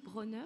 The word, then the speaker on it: Bronner: Il y a la commission Bronner, c'est comme ça qu'on prononce, qui va arriver contre le conspirationnisme, les fake news, tout ça.